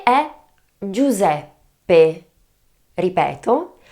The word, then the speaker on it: Giuseppe: The difficulty lies in the first three letters of the word of this name: G-I-U remember is always pronounced in Italian and then there is the problem of the double P - a problem in